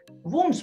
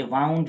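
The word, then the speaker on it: wounds: Important works इसके आगे आपके सामने, दी वुंड्स of civil war. वुंड्स पढ़ेंगे इसे, वुंड्स, ना कि वाउंड पढ़ें।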